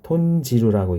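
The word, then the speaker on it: 豚汁: 그러면 합쳐지면 톤하고 시루인데, 예, 톤시루라고 읽지 않고 톤지루라고 읽습니다. 그래서 톤지루, 응이 오면 앞에 시루가 시가 이제 지 이렇게 보통 그렇게 이제 음편이죠. 음을 편하게 발음하기 위해서 이렇게 바꿔서 읽는다는 거.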